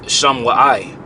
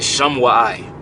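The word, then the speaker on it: שמועה: All right, that word rumor is pronounced, the root word is shamai, which means to listen. But the word here is shamwa'ai. All right, shamwa'ai.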